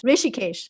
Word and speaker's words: Rishikesh: And also up in that area, you had that town, the yoga town, I'm going to mispronounce, is Rishikesh, or how do you say that? Yes, Rishikesh.